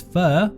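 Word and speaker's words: phở: most mispronounced of all Vietnamese dishes the true pronunciation of far is fur or far while far is well-known and permeated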